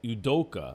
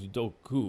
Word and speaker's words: Udoka: i you you wrote you uh udoka i thought it was dokku but anyway uh imei udoka are finalizing deals to become assistant coaches under steve nash for the brooklyn nets um udoka has been with the